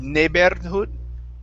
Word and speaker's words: neighborhood: word neighborhood so here use a good r sound instead of neighborhood it's neighbor neighborhood neighbor neighborhood okay great job next up